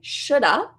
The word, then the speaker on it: should have: have should have and we're going to say Shoulda Shoulda because I want you to practice natural pronunciation this linking reduction style maybe